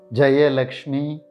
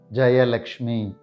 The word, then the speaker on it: Jayalakshmi: This name can be pronounced in two ways. Jayalakshmi or Jayalakshmi. Jayalakshmi or Jayalakshmi. It either starts with a J or J sound.